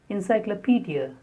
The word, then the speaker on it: encyclopedia: Encyclopedia.